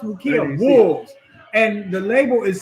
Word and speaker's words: Ukiah: little town in California uh yukia I think it's pronounced it's correctly pronounced ukia Wolves and the label